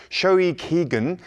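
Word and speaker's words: 消費期限: And 17 have now topped Japan's Oricon weekly singles chart with their 4th Japanese single pronounced Shoi Kigen.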